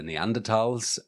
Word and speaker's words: Neanderthal: Um but in Europe obviously you've got the neanderals um which which is pronounced like that with a with a t not with a th sound.